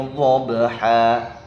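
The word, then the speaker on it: ضبحا: Wal 'adiyati dhabha. Nah, ini yang sering terjadi, dhad dibaca do.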